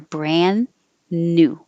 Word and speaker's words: brand new: of changes there except brand new you don't have to say the d brand new just hold your because you're going to a word after it that has an n so hold it there